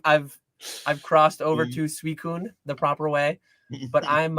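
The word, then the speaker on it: Suicune: I I've I've I've crossed over to Suicun the proper way, but I'm uh I'm probably not changing on Rayquaza.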